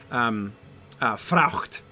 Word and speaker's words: fraught: Ah, these merchants hand on fraught. Her ship is new. Okay. These merchants have done fraught. So he's using the past participle there. Fraught. Fraucht is how you'd pronounce it in Middle English, which, come on, is that not cooler, right?